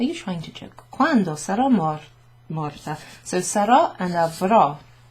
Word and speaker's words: sarò: Sarò, avrò. You've got this accent that goes over the O and the O. And that sort of clips it down to a really short pronunciation.